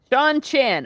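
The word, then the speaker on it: Seanchan: You say it again because I said it Sean wrong. Chan. Sean Chan.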